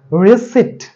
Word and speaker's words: receipt: তারপরে আছে RECEIPT আমরা বলে থাকি receipt বাট এর সঠিক প্রোনান্সিয়েশন হচ্ছে receipt শেষে ত হবে উচ্চারণ receipt এখানে কোনো এই p এর উচ্চারণটা থাকবে না তারপরে আছে দেখেন GREEN